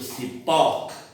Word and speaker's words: cipó: Quando a pronúncia for aberta, o acento é agudo, como por exemplo cipó, ó. Se a pronúncia for fechada, nós vamos trabalhar com circunflexo, vovô, o. Então, ó é aberto, ou é fechado.